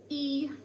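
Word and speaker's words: 一: get started number one in mandarin chinese is pronounced e e i wonder if you could say that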